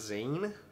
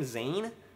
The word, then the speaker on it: Zayn: One Direction love matches Zan I think that's how you say his name zaye please One Direction or correct me if I'm wrong z a y n Zan I see that